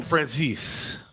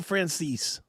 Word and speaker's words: Franzese: Michael Franzese. Did I say it right this time or no? You did. Michael Franzese.